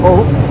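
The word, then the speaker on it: を: So usually use this O, and it's a special O, and it's very different from the vowel O.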